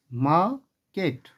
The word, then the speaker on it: market: क्योंकि आर के बाद जो आया है वह के है और के एक कॉन्सोनेंट है, इसलिए आर साइलेंट हो जाएगा। तो इसलिए इसे हम लोग पढ़ेंगे माकेट, महकेट।